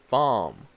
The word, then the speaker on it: bomb: so we have BOM see the last be you do not pronounce it so you say bomb or that object that